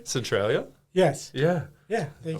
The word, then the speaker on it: Centralia: Did I pronounce it correctly? Centralia?